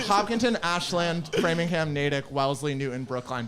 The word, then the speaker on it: Ashland: want to seem like a local it's not ashland it's ashland that should be the trivia how to pronounce massachusetts putting on the spot uh your